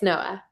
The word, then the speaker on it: Noa: Am I pronouncing your first name right? Yes, Noah It's not the organization is NAMI, is not.